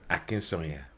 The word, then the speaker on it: Akinsanya: But our guest today is Stephen Akinsanya. Well, that's well pronounced. Akinsanya? Yeah. Okay. Well, the Yorubas would say it differently, but that's good. How the Yoruba say it? Akinsanya.